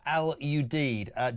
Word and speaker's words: Al Udeid: The airbase in Qatar is pronounced Al Udeid.